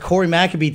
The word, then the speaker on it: Cory McAbee: We're here with Corey McAbee today. Did I say it right? That was perfect. Okay, great. I'm known for mispronouncing names sometimes on purpose for fun, sometimes because I'm a fool.